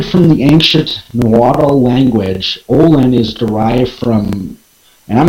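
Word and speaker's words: ollin: in sacred pre-columbian ceremonies pronounced all in it is an expression of immense depth that conveys intense and immediate movement intense and immediate movement stemming from the ancient water language olin is derived from and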